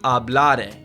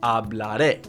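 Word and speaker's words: hablaré: Those accents you see are super important. Okay? So, here it says ablare. It's not ablare, it's ablare. It's not appren, it's appren. Don't mess that up.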